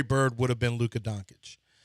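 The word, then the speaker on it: Dončić: different time Larry Bird would have been Luca donic Don donic I actually is how you're supposed to pronounce it but I think if Larry Bird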